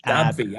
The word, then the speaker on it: AbbVie: You see, it's ABB, so it's AbbVie.